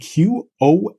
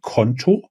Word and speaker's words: Qonto: Country Director Germany of Qonto, which is spelled Qonto. German pronunciation of a current account, of a bank account, Qonto, and of this company, which is actually headquartered in France.